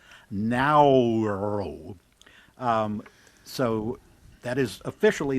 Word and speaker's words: Naoero: But, they said that this is um closer to the pronunciation that the natives have. Naoero.